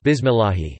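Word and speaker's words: بسم الله: is I, kasart, then the lam in Allah is light, such as in the basmala, bismillahi. Bismi al awrimni arhim. So if a Muslim says bismillahi, he should not pronounce the lam with a heavy emphasis, instead, just with the tip of the tongue.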